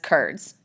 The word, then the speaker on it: Kurds: them that identify as kurds yes kurz not cheese curds but same idea same pronunciation Kurds do not have